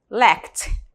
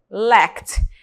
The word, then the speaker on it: lacked: Por exemplo, se ele terminar em K, na pronúncia vai ter som de T, lacked, lacked.